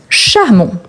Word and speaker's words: charmant: Charmant, on ne prononce pas le T.